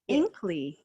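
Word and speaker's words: Inqli: that lifts people up so we went with inkly i-n-q-l-i because inkly when you say it like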